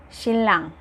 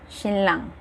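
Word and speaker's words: 신랑: What I mean by that is the word silang. Shinlang. When niyon meets real, it becomes double L.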